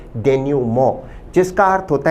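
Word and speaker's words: denouement: प्रश्न शब्द एक बेहतरीन शब्द है जिसका उच्चारण है डेन्यूमो। विद्यार्थी ध्यान दें शब्द का प्रोनाउंसिएशन डेन्यूमंट नहीं है। इस शब्द का सही उच्चारण है डेन्यूमो।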